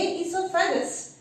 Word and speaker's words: oesophagus: ये इसोफेगस कुछ बुक्स में आपको ओ हम रीड आउट ही नहीं कर रहे, पढ़ ही नहीं रहे, ओ साइलेंट है यानी ऐसे रख लिया,